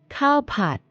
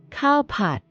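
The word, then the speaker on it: ข้าวผัด: In Thai, cowpot. Cowpot.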